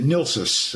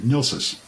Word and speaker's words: NLSES: that's right in 1975 he pronounced it nilsus he abbreviated nilsus right and um if